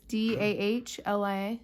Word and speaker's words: Dahlia: Spell it. The one that's D-A-H-L-I-A.